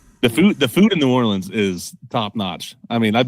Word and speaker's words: New Orleans: and and it's pronounced New Orleans. So, um anyway, unless unless you're down there, they say say Norins. Oh, Norins. Okay. Sorry. Um, they kind of combine it, dude.